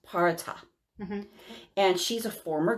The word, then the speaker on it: Perchta: They have the Parata. And it's so weird because it's spelled Perchta. So I had to figure out how to pronounce that, but it's pronounced Parata.